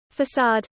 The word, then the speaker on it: façade: Facade. The front view of an edifice from the Italian facciata, or face, a fake persona, as in putting on a facade. The C is pronounced like an S.